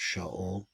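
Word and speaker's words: שָׁאוּל: the King King Saul which in Hebrew is pronounced sha that King sha is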